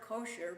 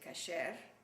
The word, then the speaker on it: kosher: kept you kosher homes the word kosher by the way is Ashkenazic we say cashier which is the Sephardic pronunciation everybody but cashier meat